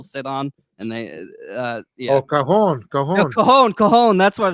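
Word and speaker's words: cajón: drums that people sit on, and they Oh, cajon. No, cajon. That's what it's called. I always call it a Cajun.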